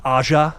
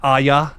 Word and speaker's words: Aja: It is directed by Alexander Aja, which I just found out that's pronounced Aja. It's not Aya, like I've been saying for so long, incorrectly.